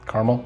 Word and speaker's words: caramel: not in minnesota though minnesota say caramel caramel yeah it's a two-syllable word yeah a lot of